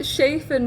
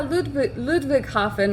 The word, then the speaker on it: Ludwigshafen: Well, I called it Schafen before, and my German friends were like, oh yeah, Ludwigshafen.